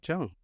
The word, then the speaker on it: Cheung: Uh, Pat Chung, how you doing? All right. Did I pronounce that right, Chung?